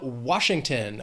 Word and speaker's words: Washington: Then we have Washington. 3 syllables, stress is on that first syllable, Washington.